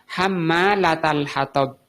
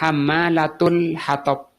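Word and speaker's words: حَمَّالَةَ الْحَطَبِ: Jadi di sini bacanya ada dua. Bisa dibaca hammalatal hatab. Taknya ini di fathah, hammalata. Juga boleh dibaca dhammah, hammalatul hatab.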